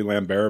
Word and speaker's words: Lambert: or Lambert it's Lambert he's French so in France is probably lamb bear but I've always heard it pronounced in the United States as Lambert Christopher Larry you know